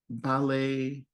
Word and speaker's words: ballet: There are other words in English like this that come from French where we don't pronounce the final T. Buffet, ballet are a couple of examples.